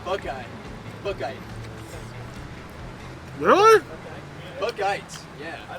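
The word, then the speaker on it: Buchheit: You pronounce it Bouchette?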